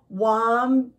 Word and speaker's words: Wombatipus: I am Wombatipus. See how he changed his name to kind of rhyme with platypus?